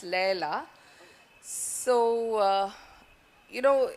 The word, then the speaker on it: Leila: So Leela is what I thought it's called, but it's apparently pronounced Leila.